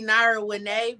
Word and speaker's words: Nara Winay: I had to laugh because it's really Nara Winay, but you did better than other people. I told sometimes I mess up names, but I did the best I could. How you pronounce it? I'm sorry. Nara Winay. So Nara Winay. But when you read it, people be like marijuana. So they thought I was saying it like marijuana.